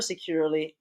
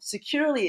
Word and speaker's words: Securly: So right now we're taking a look at the Securely webpage, and if you notice that Securely is spelled Securly. So you don't have that extra E in there. So this is Securely.